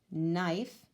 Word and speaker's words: knife: with the silent w knife with the silent K right with the silent